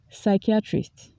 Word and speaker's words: psychiatrist: cardboard can store enough food for a month psychiatrist psychiatrist the psychiatrist said she was suffering from